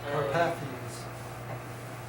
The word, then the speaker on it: Carpathians: How do you pronounce that? Carpathians.